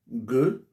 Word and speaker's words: Gueu: Gueu. Vous savez, quand on doit prononcer un nom Yakouba, il y a une manière de le prononcer, il faut changer la langue.